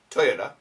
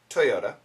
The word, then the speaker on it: Toyota: also from ap news this regards toyota american pronunciation toyota toyota toyota and some of their cars have a steering